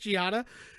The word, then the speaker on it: Gianna: It's just Gianna. It's not spelled.